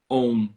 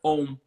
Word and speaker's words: Om: Pois é, se fosse aqui no português, ia ser uma sílaba só, né? Om. O-M. Sim, Om. Mas não é, sim, né? É A-U-M e o silêncio também conta.